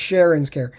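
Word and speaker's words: Cheren's Care: Like I said, this is pronounced Sharon's Care.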